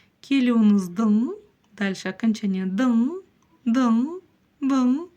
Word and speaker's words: Келуіңіздің: Палочка с точкой практически не читается. Келюныздын.